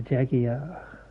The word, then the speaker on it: Jaguar: The Jaguar. That's how they say it over in England.